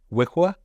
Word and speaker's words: WYWH: loves it right they they pronounce the the abbreviation wiwa was wwh like he we're GNA